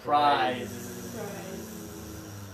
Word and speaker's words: prize: For this one, there is vibration, prize.